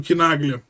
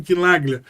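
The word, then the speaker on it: Chinaglia: Quando você pega o quebra-cabeça para montar, você vai chegar a um deputado do PT, o Arlindo Quinaglia, né? Essa é a pronúncia correta do nome dele, Arlindo Quinaglia, na Câmara, e o Orlando Silva, do PCdoB, sendo as vozes do Barroso.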